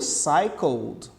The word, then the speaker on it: cycled: Agora aqui no cycled. No cycled. Essa letra E não é pronunciada.